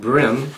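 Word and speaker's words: bream: incorporates all panish and Brim spelled b r e a n but pronounced brim like in the brim of your cap or your hat is actually derived from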